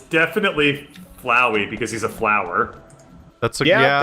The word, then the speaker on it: Flowey: really angry at me because to quote the pronunciation is flowy yeah it's definitely flowey because he's a flower that's probably legit they were legit angry at me to be fair I've always called it flowy too until this exact moment when I didn't